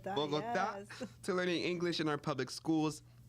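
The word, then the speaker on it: Bogotá: Bogota, yes.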